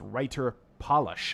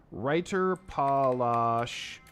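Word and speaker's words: Reiterpallasch: So it's writer polish. I've been mispronouncing this the whole time. Writer polish.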